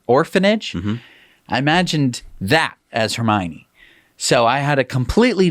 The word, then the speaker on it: Hermione: me harry potter and you wouldn't pronounce hermione correct you said hermione hermione or hermone you said her hormone i think so i